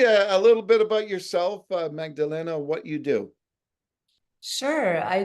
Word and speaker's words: Magdalena: podcast today on Calgary's podcast joining me is Magdalena who is a certified health coach and a public speaker thanks uh Magdalena for joining us today thanks for pronouncing my